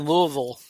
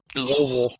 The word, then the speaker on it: Louisville: Um, when you were in Louisville, Louisville, Louisville, and I'm not making fun of it.